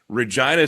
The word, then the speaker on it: Regina: I was thinking back to when we last saw each other, and that was in Regina, Saskatchewan, of all places. And Regina rhymes with angina, a very serious heart condition.